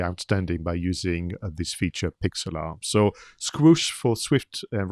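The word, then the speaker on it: Pixlr: i was reminded of something called pixelart so this is how i pronounce it but it is spelled p i xlr dot com and then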